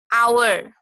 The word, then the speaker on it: hour: Like some that an, hour. Sometimes an is found before the words beginning with the letter H. That means the H is a consonant sound, but whenever we pronounce the H is silent, so we use our.